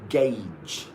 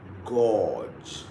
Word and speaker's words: gauge: It's gauge, not gorge, not cage.